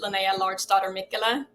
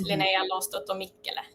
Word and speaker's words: Linnea Lardsdatter Mikla: Yes, do you want it in the American way or the Swedish way? Give us both. Okay, here I pronounce it Linnea Lardsdatter Mikla, but Okay.